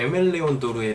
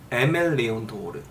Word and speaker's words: Aimé Leon Dore: 그랬더니 이 아랑 에 사이의 정도의 발음으로 하는 것 같더라고요. 그러니까 에멜리온도르, 도르도 돌과 도르 사이 정도, 도르.